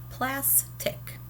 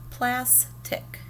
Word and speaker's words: plastic: I say that first syllable longer. Now listen and see if I say it louder or softer. Plastic. It's a little louder. All right, and then let's see about the pitch. Plastic. It's a higher pitch, that plas part.